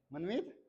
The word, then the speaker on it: मनमीत: तो तुम बताओ भाई क्या नाम की स्पेलिंग है, SH, क्षितिज, तुम बता दो इसको क्या है, हाँ, मनमीत। मनमीत तुम्हारा दोस्त है, तो मनमीत की तो स्पेलिंग आराम से बता दोगे, मनमीत या मनमीत, स्पेलिंग बोलो MANMEET, ठीक है।